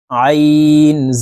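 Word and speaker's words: عين: জবর ত জবর জ আইন বড় আইনের উচ্চারণ আমরা অনেকেই সঠিক ভাবেই পড়তে পারি না আইনের উচ্চারণ হলকের মধ্যখান থেকে চাপ দিয়ে উচ্চারণ করতে হবে কারণ আইনের মাখরাজ হলকের মধ্যখান থেকে হবে আইন জবর আ আপনারা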